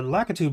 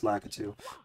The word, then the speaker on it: Lakitu: I'm pretty sure it's pronounced Lakitu, but I've been calling them Lakitus since young times.